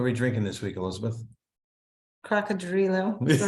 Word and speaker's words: Cocodrilo: Cocodrilo, not croc, Cocodrilo. Cocodrilo, yep.